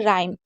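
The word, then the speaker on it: rhyme: इसके बाद एच कब साइलेंट होता है, अगर कभी भी आर और एच साथ में होगा तो एच को नहीं पढ़ेंगे। जैसे हम इसे क्या पढ़ते हैं, राइम।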